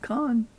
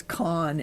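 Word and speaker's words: Khan: places that there was con in it. One of the really big characters in Star Trek, even though it's spelled different, it sounds the same.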